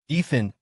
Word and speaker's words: Ethan: Two syllables easy. Fine. Ethan," she muttered, sitting stiffly.